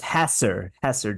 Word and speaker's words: Hesser: I like Hesser better, but the correct pronunciation of Chad's name is Hesser Drywall.